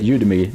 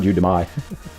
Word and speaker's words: Udemy: You you say it Udemy, not Udemy.